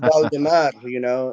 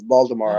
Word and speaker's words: Baldemar: Yeah, So it's pronounced Baldemar, and if you cannot pronounce the word Baldemar, it's Baltimore. I'll be happy with that.